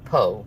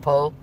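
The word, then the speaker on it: Pugh: She's Welsh so it doesn't sound like how it's spelled. But Richard Smith, the Keto Pro, he's Welsh also, so he says it exactly right. Go figure, right? Um, so it's more like Po, but she does not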